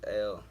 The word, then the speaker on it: El: My last name is El, which is pronounced ill, depending on, your dialect.